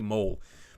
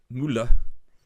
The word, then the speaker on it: Müller: is M-O umlaut L-E, which if you wrote it without the umlaut would just say mole. But Müller is the pronunciation with the umlaut on top.